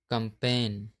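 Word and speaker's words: campaign: जब एन से पहले जी आता है तब हमेशा जी साइलेंट होता है। जैसे डिजाइन, रिजाइन, कंपेन, नोम, शाइन।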